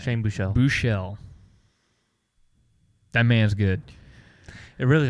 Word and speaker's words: Buechele: Buechele.